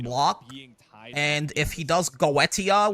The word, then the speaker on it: Goetia: And if he does Goetia, which is how you say it in the original Latin, if he does Goetia